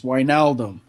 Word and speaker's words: Wijnaldum: It's Wijnaldum. It depends how you say it. One of the commentators yesterday said Wijnaldum.